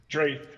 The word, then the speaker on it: Draeth: today I'm joined with dref is that is that the right way to say your name Trey Trey my apologies I'm joined with trade